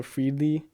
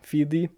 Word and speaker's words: Feedly: I think that's how you pronounce it. There's also Freedley or Feedley. Yeah, Feedley.